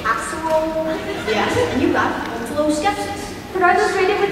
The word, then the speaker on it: omphaloskepsis: Yes, and you got omphaloskepsis. But are those rated with the same level of difficulty? They're both level 1 words, yes. Omphaloskepsis. Could that also be pronounced omphaloskepsis? It can. It would be wrong.